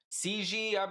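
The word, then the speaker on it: Xi: So, this news agency had a different spin on the call, noting that the president, president of China, Ci is how you say his name.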